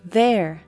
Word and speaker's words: there: O som dessa palavra there é ver ou there ou there. There pronuncia assim. Coloque a ponta da língua entre os dentes e pronuncie Z.